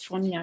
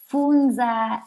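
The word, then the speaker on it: fonja: all what actually does fronia mean um actually is pronounced funza and um just means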